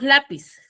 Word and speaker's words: lápiz: ¿Dónde tiene la mayor fuerza de voz lápiz? La. En la. En la. Entonces, la es penúltima sílaba.